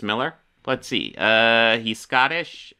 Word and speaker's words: Millar: get over the fact oh is it just pronounced Miller I'd assume because a was Millar but maybe it's just Miller fact that well some